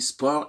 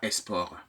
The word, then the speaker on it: sport: disparaître de vos lèvres on dit sport et non pas eSport j'ai entendu sur une sur les antennes d'une des radios de la place au cours d'un journal parlé une journaliste qui disait eSport pour finir parlant de la Coupe du monde non c'est sport pour finir et non pas export pour finir je vous rappelle également